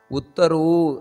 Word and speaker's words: ಉತ್ತರೋ: ಇಲ್ಲಿ ಸ್ವಲ್ಪ ಉಚ್ಚಾರಣೆಯನ್ನು ಮಾಡಬೇಕಾದರೆ ಮಹಾ ಪ್ರಾಣಗಳು ದೀರ್ಘ ಅದರ ಬಗ್ಗೆ ನಾವು ಒತ್ತು ಕೊಡಬೇಕಾದದ್ದು ಉತ್ತರೋ ಅಲ್ಲಿ ದೀರ್ಘ ಇದೆ ಉತ್ತರೋ ಗೋಪತಿರ್ ಗೋಪ್ತ ಅಲ್ಲೂ